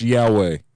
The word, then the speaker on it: Yahweh: Yeah, no, Yahweh, the cell phone. Huai or whatever. It's with an H, yeah. Yeah, Yahweh. Well, that seems offensive to a certain segment of our population. It's pronounced Yahweh.